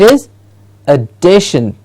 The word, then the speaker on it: addition: many times here incorrectly and we hear it as add addition it's an addition it is addition and the day gets a stress addition addition diction yes